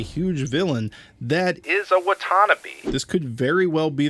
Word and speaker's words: Watanabe: I kept saying Watanabe because Cam was a want-to-be ranger. In an interview with Erica Fong, she says Watanabe. Apparently I'm saying it wrong, and they also say Kia instead of Kaya.